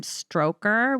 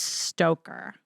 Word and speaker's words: Stoker: stroker's character Renfield yep I always want to say Bram stroker which is not how you say it it's stoker but after seeing this